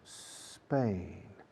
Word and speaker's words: Spain: Trucos de fonética, pero importantes porque el español medio, el hispanohablante, tiene la costumbre de poner una E delante de la SM o la ST o la SL, etc. Spain, no. Spain.